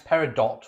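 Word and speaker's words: peridot: my birthstone is parido either pronounce paridot or parido green per par parido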